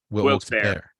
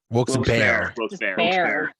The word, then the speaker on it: Wilkes-Barre: son lives there oh is it Wilkes Berry or Wilkes Berry Wilkes-Barre Wilkes a bear bear okay yeah what else